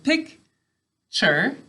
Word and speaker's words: picture: so listen pic sorry pic sure is how we say it picture is how we say it to spell it you know what i